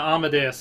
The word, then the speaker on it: Amadeus: Oh yeah, Amadeus, like Amadeus Mozart.